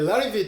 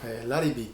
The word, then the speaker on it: Larrivée: In Japan, people call this maker as "Laribee", but in this video, I would like to call it "Larrivee" with correct way. Can you see the spelling? Larrivée And there is an accent mark on the e from the last letter. The correct pronunciation is called "Larrivee".